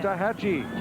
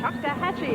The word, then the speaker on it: Choctawhatchee: Choctawhatchee. Choctawhatchee High School in Fort Walton Beach, Florida.